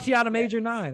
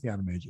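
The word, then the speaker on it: Tiana Major9: And my father was like, what about Tiana Major 9? I'm like, it's just Tiana Major.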